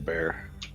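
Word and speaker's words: Bare: He would say he was just called Bear. That's a sad life, bear. But it's spelled different. It's B-A-R-E, so...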